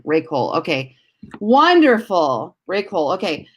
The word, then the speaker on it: Ray Cole: Ray Cole is how you say your name, right? Then I said it right with a hard C. Ray Cole.